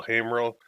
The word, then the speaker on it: Haimerl: my name is hey Merle it's like hey to a guy named Merle that's how you pronounce